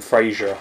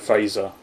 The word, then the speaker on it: Fraser: get annoyed if you called him Frasier instead of Fraser because it was like there's like that's the American pronunciation you're saying it with like an extra eye in it I'm dare with